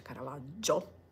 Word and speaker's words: Caravaggio: sentito anche l'accento straniero la pronuncia diversa rispetto a cardage anche lì Ho detto che si dice Caravaggio e quindi ho fatto